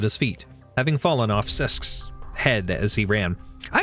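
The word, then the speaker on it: Cesc: I don't know how common it is, but how to pronounce C-E-S-C. A soft C sound similar to the S in sun, followed by a short E sound with an SK sound at the end. Sesk.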